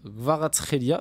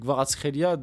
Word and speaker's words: Kvaratskhelia: Donc l'avis de Walid Acharchour sur les débuts de Kvaratskhelia.